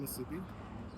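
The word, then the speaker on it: musubi: How do you say it again? Spam masubi. Spam?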